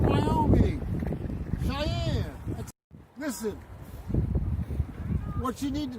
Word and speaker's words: Cheyenne: I'm in Cheney. Fuck. What state? Wyoming. I know I'm in Wyoming. Cheney. I never heard of that. Why don't you spell it? Cheyeye. Oh fuck, man! You're in Cheyenne, Wyoming. Cheyenne.